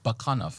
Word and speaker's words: Bakanov: So it's Bakanov. Is that what you're saying? Yeah. So it's the second syllable is stressed.